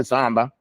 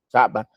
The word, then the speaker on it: صعبة: Don't go samba. Saba.